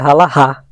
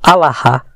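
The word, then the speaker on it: הלכה: E eu quero dizer também que outros seguem os costumes da halachá, que são os ensinos dos rabinos, né? No hebraico a pronúncia correta seria halahá ou alahá.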